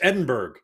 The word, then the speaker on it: Edinburgh: It's Edinburgh. That's how it's spelt.